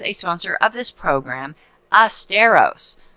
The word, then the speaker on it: Asteros: sponsor of this program asteros pronounced like fred astaire but spelled a-s-t-e-r-o-s dot com and what